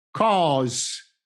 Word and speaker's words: cause: Nella parola cause ogni vocale ha un suono ben distinto che deve essere sentito chiaramente e distintamente.